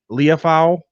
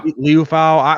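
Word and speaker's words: Liufau: Leofau. Yeah, Leofau.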